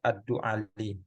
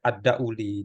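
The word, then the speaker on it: الدؤلي: Abu Al-Aswad Ad-Du'ali. Ada bacanya Ad-Du'ali, ada Ad-Dauli itu ya.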